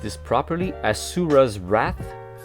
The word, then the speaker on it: Asura's Wrath: i pronounced this properly asura's wrath asura not ashura but asuras asuras rat um the japanese